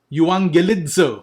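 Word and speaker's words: εὐαγγελίζω: Euangelidzo. Okay, so you're familiar with that. The double G sound will produce the ng sound together. Okay. Euangelidzo, that is to evangelize.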